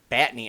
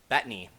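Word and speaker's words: Bettany: really liked it now the acting olson and batney uh betany sorry i almost mispronounced that and everyone else acted like they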